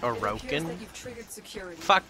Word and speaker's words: Orokin: orokin well technically she or does he it's pronounced orokin that or akin here I'm